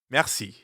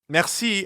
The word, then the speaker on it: merci: Merci. Merci. Merci has a French R in the middle, so we have to use our throat a bit.